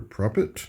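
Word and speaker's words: Propet: Prophet is how you're supposed to pronounce that.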